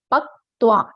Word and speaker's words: पक्त्वा: ठीक है, पक्त्वा ऐसा उच्चारण करना है आपको।